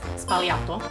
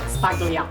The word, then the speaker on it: Sbagliato: lesson number one it's spalato not spato the g is silent SP no spato why